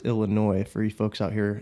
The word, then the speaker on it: Illinois: California who call it Illinois. That's not... People do that? People do that. Really? That's rough. Yeah. That's rough. I'm surprised. The S is silent.